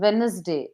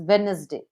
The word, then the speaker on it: Wednesday: like w it is Wednesday D is silent d d is silent yes it is Wednesday when we pronounce it